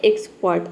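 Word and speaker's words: expert: अगला वर्ड है एक्सपर्ट। अब देखिए, यहाँ पे आर लेटर आया है लेकिन आर को हम प्रोनाउंस नहीं कर रहे हैं, क्योंकि ये रूल है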